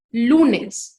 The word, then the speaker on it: lunes: Lunes, lunes es grave, ¿sí? Porque se acentúa en la penúltima sílaba, ¿sí?